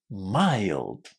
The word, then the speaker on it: mild: We say it as mild. mild. Lots of students find this quite strange that this word is pronounced with an I, but this is exactly what you need to do.